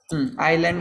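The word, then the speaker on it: island: आइलैंड बोलते यहाँ yes silent होता है ना, आइलैंड्स.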